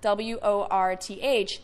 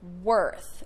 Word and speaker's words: worth: So with the word W-O-R-T-H, you're thinking worth, which is incorrect.